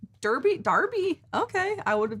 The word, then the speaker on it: Derby: No. pronounced Darby. Derby.